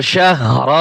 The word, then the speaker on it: شهر: শিনহা জবর শাহ, রা দুই জের রিন, শাহরিন। ওয়াকফ করলে রিন হবে না, শুধু র সাকিন হইলে যেভাবে উচ্চারণ হয়। শাহর, শাহর।